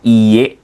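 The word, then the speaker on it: いいえ: Nah, ini untuk kata iy hati-hati ya Minasang ya. Ini kan dia ee panjang ya. Jadi kalau mungkin anak pesantren udah terbiasa yang namanya apa? Ee dibacanya dua harakat seperti itu ya. Atau kalau kita orang Indonesia apa yang teman-teman yang nonmuslim jadi apa mungkin ini dibacanya itu lebih panjang gitu. Jadi iye seperti itu itu artinya tidak.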